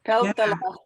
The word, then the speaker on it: Peltola: And somehow I came across your name when I was looking at Mary Peltola, who, of course. Right. And that's the way I say it, too. Peltola is the way to say it.